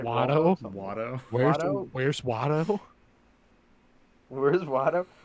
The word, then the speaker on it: Watto: But how do you say his name? Waldo? He's like Watto.